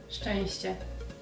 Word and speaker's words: szczęście: And she's gonna tell me the words after I guess them and if I pronounce them right or wrong. So here we go. So the first word is szczęście. Szczęście.